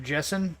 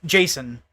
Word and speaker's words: Jason: Is it pronounced Jason or Jessen? Jason. So press X to Jason. That's the pronunciation.